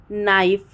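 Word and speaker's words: knee: ऐसे ही नी को इस प्रोनाउंस किया जाता है कि NE डबल ई होता है, लेकिन हम बोलते हैं नी ओनली।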